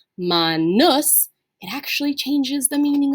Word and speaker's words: manus: end and it's a short you and it's pronounced ma nus it actually changes the meaning of the word